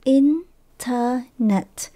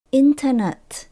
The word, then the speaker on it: internet: đó thì từ này các bạn nhớ mình nhấn âm đầu tiên internet internet internet K đến mình có